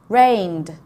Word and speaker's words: rained: Rained. Okay, rained is the D sound at the end.